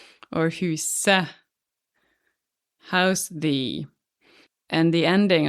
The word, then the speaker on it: huset: If it's the house, it's et, huset pronounced just e, huset the house.